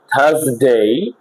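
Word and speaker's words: Thursday: আবার আমরা দেখতে পাচ্ছি থার্সডে, এখানে কিন্তু থার্সডে বলা যাবে না, থার্সডে, THURS, আর এরপরে এস দেখতে পাচ্ছি কনসোনেন্ট, থার্সডে। থার্সডে কিন্তু বলা যাবে না, থার্সডে।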